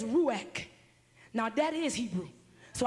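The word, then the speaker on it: רוח: I said, honey, how to pronounce this word? He said, ruach.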